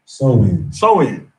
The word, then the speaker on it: Samhain: Samhain, right?